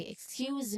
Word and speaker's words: excuse: When we say it more naturally, we say, excuse me, could you repeat that? Basically, the stress is on repeat, the second syllable of repeat, and the second syllable also in excuse.